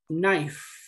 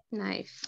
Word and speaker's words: knife: sigue es una consonante, la K es muda. ¿Ok? Entonces, en este caso sería knife. Knife.